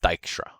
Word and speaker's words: Dijkstra: ford and dijkstra so this is a dutch name so it's d i j k s t r a and it's pronounced dykstra and these algorithms look